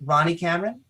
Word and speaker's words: Ronny Cameron: just want to make sure that I can pronounce this properly out loud because what's in my head, Ronnie Cameron? Yes. Sound fantastic. All right. Is there another way to pronounce it? Ronnie Cameroon.